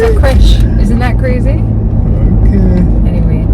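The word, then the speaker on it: crèche: It's in England they're called a creche. That's why we call them a creech. Yeah, I think it's like a French word and it's spelled C-R-E-C-H.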